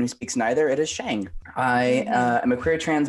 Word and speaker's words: Sheng: introducing yourself okay um my name is shang but probably should be pronounced chung um i am a